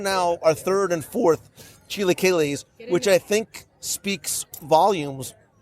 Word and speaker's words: chilaquiles: Chilaquiles. Chilaquiles. No. Don't hurt you. Chilaquiles. Chilaquiles.